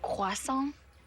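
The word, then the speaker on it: croissant: It's actually pronounced quason.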